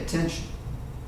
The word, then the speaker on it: attention: he says hey pay attention pay attention in this T right here sounds like a CH in chin tension headache pay attention